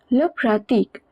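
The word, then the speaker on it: pratiquent: and it means people pratik pratik means to practice over here it is used as a verb and ent at the end of a verb is always silent so we only pronounce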